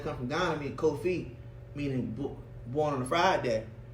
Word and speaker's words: Kofi: It's a Ghanaian name for a boy that's born on a Friday, Kofi. So my name is just an anglicized name of saying Kofi, cause the slave drivers used to mispronounce my name.